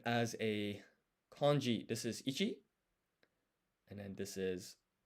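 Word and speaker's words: 一: And as a kanji, this is ichi and then this is man. And basically I'm writing the appropriate hiragana above the kanji. I think it's called furigana. Just so you know, this is pronounced ichi and this is pronounced man.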